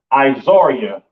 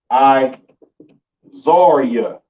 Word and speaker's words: Ezra: the bottom right and this is pronounced izaria in the hebrew i zarya okay let me know